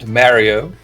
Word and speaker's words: Mario: In the past century, British English didn’t even have that clear Mario “ah” sound, it had more of a “eh” sound - “Merryo”. It’s only recently that British English has acquired this vowel that’s more like the Italian vowel.